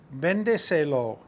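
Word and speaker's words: véndeselo: sell it to him, it would be vendeselo, vendeselo, vendeselo, with an accent on the E right here after the V. Vendeselo.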